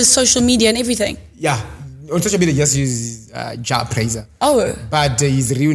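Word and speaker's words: Jah Prayzah: Jabraiser. Okay, there you go. Exactly, Jabraiser.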